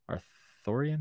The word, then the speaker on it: Arthurian: Arthurian? Yeah, that's how you say it.